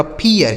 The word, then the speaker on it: fear: आगे FEAR, तो यफ से हो गया दोस्तों फ, EA का उच्चारण दोस्तों ईया हो गया, उसके बाद आर से र, यह लिखा गया आपका फियर, इसे फिर नहीं पढ़ा जाएगा, फियर।